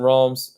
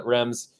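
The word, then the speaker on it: Reims: stretch twilight then hosting realms uh rems excuse me uh french pronunciation sometimes get to me uh tois pick em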